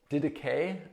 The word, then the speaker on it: Didache: we live out our Christian lives, called the Didache. I think that's the right pronunciation.